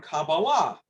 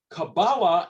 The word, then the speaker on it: Kabbalah: Kabbalah is the Ashkenazi way of pronouncing Hebrew. Broadly speaking, there are two major ways of pronouncing Hebrew: Ashkenazi or Sephardic. Ashkenazi is the Jews of Eastern Europe. Sephardic are the Jews that come originally out of Spain, and there's also many Jews of Arab lands, and they generally pronounce Hebrew in the Sephardic way.